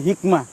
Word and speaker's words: hikmah: al-mubarokah dipimpin oleh hikmat Hikmat Hikmat ini segera adalah apa namanya pengucapan gaya Persia ya Hikmat Hikmat bahasa Arabnya adalah hikmah ya Highway lebih diterjemahkan